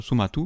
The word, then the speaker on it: Somato: C'est chez Glénat, et c'est un duo du nom de Somato, mais prononcé Somatu, qui est derrière cet étrange ouvrage.